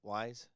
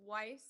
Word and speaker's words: Weiss: Wise? Yeah, very close. It's Weiss, so it's Weiss? German. Yeah, think about the German pronunciation.